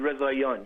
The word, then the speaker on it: Rezaian: Jason Rezaian, yes.